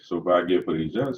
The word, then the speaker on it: Soubhagya Parija: Yes, you pronounced my name right, Soubhagya Parija.